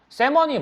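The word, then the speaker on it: salmon: 그다음에 in late summer 늦은 서머여름에 가족들이 go fishing for in 요큰 river요 지역으로 세먼이 뭐야? 연어. L은 무음이야. 알죠? L은 무음입니다. 세먼이라고 읽고 연어를 사냥하러 갑니다 가족들이요.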